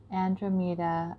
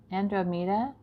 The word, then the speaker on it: Andromeda: also look at this Andromeda Andromeda sorry I put the emphasis on the wrong syllable so Andromeda her name